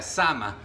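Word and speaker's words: שמע: Pero este aquí también en el hebreo hay una palabra que se pronuncia sama y y y significa Dios escucha o Dios oye.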